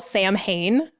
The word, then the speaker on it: Samhain: you're going to try to google that it's it's spelt samhain s-a-m-h-a but it's pronounced samhain and i know that because i googled it and practiced it and sawin celebrates the end of summer and it welcomes